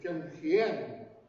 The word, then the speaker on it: Tsimshian: But the correct way to pronounce Tsimshian is Tsimshian.